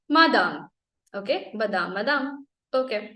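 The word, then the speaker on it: madame: बोजू मिसर okay the next word इ buzzer मादाम बादाम पता बादाम जो कि खाने में तने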